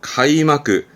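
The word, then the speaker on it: 開幕: 카이마크, 카이마크. 개회가 되겠죠? 카이카이, 카이카이. 개항, 항구의 항자입니다.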